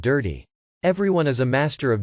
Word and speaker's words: DIRT-T: In the paper, the authors told you dirt T should pronounce dirty. You have to pronounce it dirty.